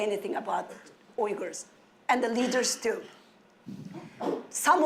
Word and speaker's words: Uyghur: Or some of them are afraid of pronouncing it because it's difficult to pronounce. It's Uyghur.